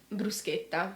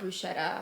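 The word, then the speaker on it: bruschetta: our listeners Master today brusa brusa it's not Bretta um then I guess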